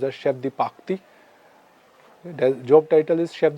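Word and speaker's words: chef de partie: are there in the kitchen then we have Chef diarti or in French properly pronounced as Chef diaki there job title is Chev department is Kitchen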